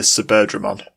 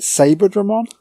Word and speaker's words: Saberdramon: Isn't it Saberdramon? I'd pronounce it Suberdramon. Because it's like Birdramon with Sa. Saber. Well, it's Saberdramon. It's Saberdramon. Because it looked like a Birdramon, but it's a different colour. It kind of makes sense that it would be Suberdramon, but it looks like it's spelled Saber.